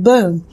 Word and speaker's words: Bum: name huh in Colombia the word bum is pronounced like boo referring to the explosion